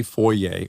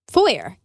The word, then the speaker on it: Foer: time saying forer for I want to say foer or forer I think I was mispronouncing it for a long time I was calling him foyer but that's wrong Dennis Rodman foyer that's